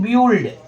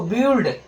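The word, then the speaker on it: build: कुछ लोग बोल देंगे ब्यूुल्ड। क्या बोलेंगे इसको? बिल्ड।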